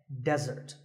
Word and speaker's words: desert: be confused with desert here the stress is on the first syllable which is death desert now I said that